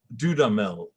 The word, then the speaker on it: Dudamel: we just listened to dudamel i believe is how he pronounces his name uh conduct it and